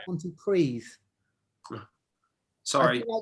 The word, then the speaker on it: Pontypridd: I put Pontypridd.